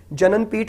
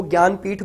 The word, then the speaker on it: ज्ञानपीठ: Award है ज्ञानपीठ award, जिसकी spelling जे से स्टार्ट होती है, जननपीठ नहीं बोलते इसको, ज्ञानपीठ बोलते हैं।